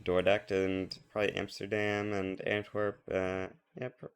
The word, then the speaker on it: Antwerp: Actually, I should be pronouncing this Antworp, but you know, we don't worry about such details.